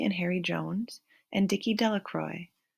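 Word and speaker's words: Delacroix: Harry Jones and Dicky Delroy the villagers pronounced this name delacroy eventually made a great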